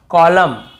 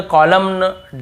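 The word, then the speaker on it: column: पहले एम आता है एम एन एक साथ हो तो हमें हमें वहां क्या करना है एन को नहीं पढ़ना है जैसे ऑटम कॉलम डैम और हाइम तो यहां पे हमें ऐसे ऑटम कॉलमन डैमन ऐसे हाइमन ऐसे नहीं पढ़ना है ठीक है क्लियर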